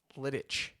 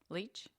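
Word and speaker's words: Leitch: the name of David liit I'm sorry if I butchered your name sir it's Lei T C interesting fact Le L leech okay I don't know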